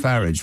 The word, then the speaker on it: Farage: Farage, I'll have pestilence. We call him Farage. Right. We don't call him Farage. We call him Farage. Farage rhymes with garage.